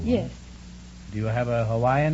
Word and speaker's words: Hawaii: Hawaii is the correct pronunciation.